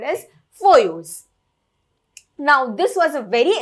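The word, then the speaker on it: Foyot: is not pronounced as for yours this is a french word and usually in french the last letter is not pronounced so that is why it is called as foyos now this was a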